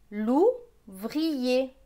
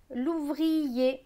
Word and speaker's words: l'ouvrier: Donc ce mot va se lire l'ouvrier. L'ouvrier. On prononce bien le i.